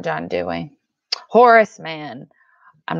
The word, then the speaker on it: Horace Mann: education not John doing Horace Mann I'm not saying Horseman I'm saying Horace Mann AC e Horace Mann